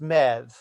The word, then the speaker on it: Medbh: The Irish is that the spelling always hurts my head because it's like MEDBH or something like that, and it's apparently pronounced Mev.